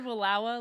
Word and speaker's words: Wallowa: It said Wallowa like Kapawa. Yep. So unless we pronounce Kapawa incorrectly, I think that's how it's pronounced.